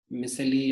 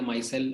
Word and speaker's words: micelle: मिसेली या माइसेल, I think माइसेल इज the correct pronunciation.